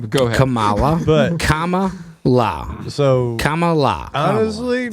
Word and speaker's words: Kamala: Kamala, But- Kama. So Kamala. honestly, Just no. put the emphasis. I mean, that's if they were Kamala. smart. No, they wouldn't. You're putting the emphasis on the wrong syllable.